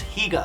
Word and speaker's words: Higa: already know the comments, my last name is Okinawan so it's pronounced HEE-ga. Not Higga.